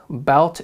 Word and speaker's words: bout: called the upper bout bout is spelled b-o-u-t bout upper belt all right